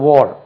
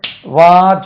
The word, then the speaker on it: war: இது வார் சொல்லக்கூடாது. War. உச்சரிப்பு இப்படி இருக்கும் பாருங்க. War. அது வார் கிடையாது. வார்னா இப்படி இருக்கும். வா இப்படி உச்சரிக்க. வார் கிடையாது இது.